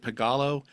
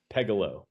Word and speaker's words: Pegalo: paying very close attention is it pagalo pictures is that what it's called Pegalo. Pegalo. Pegalo. Excuse my pronunciation.